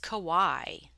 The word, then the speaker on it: Kawaii: so first of all the pronunciation is Kawaii just like it looks so what is it